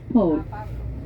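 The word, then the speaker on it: Παύλος: Paul Apostle Paul yeah Paul p a l in GRE is pronounced Pablo po uh probably in Spanish or some other language a bit different he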